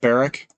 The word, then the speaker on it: Barrick: got barrick gold here good old barrick uh rhymes with oil derrick wait so there's the